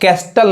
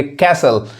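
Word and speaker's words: castle: silent होता है देखिए इसको अब कस्टल नहीं कहेंगे कैसल टी साइलेंट होता है कैसल जिसका मतलब क्या होता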